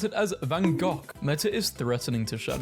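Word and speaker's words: Van Gogh: win in this too this country Americans saying vanov is pronounced vano British saying it's pronounced vanov it's a Dutch name and Dutch pronounce it as vanok meta is threatening to shut down Facebook and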